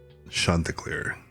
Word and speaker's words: Chanticleer: on a future note, it's pronounced Chanticleer. Oh, Chanticleer, Chanticleer. Oops. It's back from when French was a huge part of English.